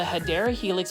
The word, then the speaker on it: Hedera helix: It's the Hedera Helix, or what you would call the Hedera Helix, which is the correct way to say it.